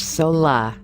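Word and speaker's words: saola: approaches snares pasola an asian unicorn de cèlle pronounced sola scientific name pseudo eric's net enhances has been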